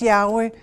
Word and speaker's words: Yahweh: it we use uh we pronounce Yahweh because we use the vowel a for Adam and Eve for um Eve the male and female. So we can pronounce it.